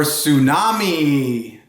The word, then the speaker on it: tsunami: get diamonds for diamond rings t is for tsunami do you know what a tsunami is that's